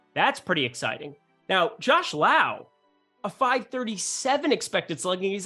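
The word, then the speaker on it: Lowe: and low combination yes Brandon Lau Josh love oh spelled the same said differently not confusing in any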